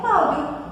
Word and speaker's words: Cláudio: Percebam que a gente escreve Cláudio com O, mas a gente pronuncia Cláudio. Cláudio. Esse O, ele acaba adquirindo um som de U.